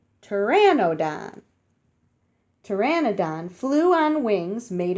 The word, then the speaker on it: Pteranodon: land and the creek you say it like this tear in ode on tear and no done Pteranodon Pteranodon flew on wings